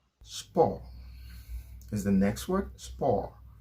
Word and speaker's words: sport: is the next word spore you notice i didn't pronounce the t french language you do